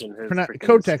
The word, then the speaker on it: Kotek: It's Kotek is how it's pronounced. Well, it doesn't look like it. Kotek.